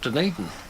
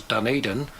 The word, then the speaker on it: Dunedin: this University of Otago in a place called Dunedin. Or as I used to say in those days, Dunedin. I learned how to pronounce it properly when I moved there.